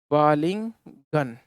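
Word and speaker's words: balling gun: इसका जो proper pronunciation इस प्रकार से, बॉलिंग गन। देखिए, बाल से बनाए बाल, जो हम घोड़ों को बड़ी गोली देते हैं, घोड़ों को बड़ी गोली देते हैं, उसे हम बाल कहते हैं।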